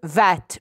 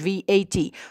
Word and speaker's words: VAT: VAT طبعا هي acronym لأنها بتتنطق VAT مش VAT.